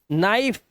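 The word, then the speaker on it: knife: सभी वर्ड में देखो एन से पहले के दिखा दे रहा है आपको तो इसलिए ये साइलेंट है तो इसे सिर्फ पढ़ते हैं नोक नीड नाइफ नो के को नजर अंदाज कर रहे हैं के को पढ़ ही नहीं रहे हैं अब यहां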